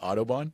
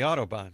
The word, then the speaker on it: Autobahn: The Audubon?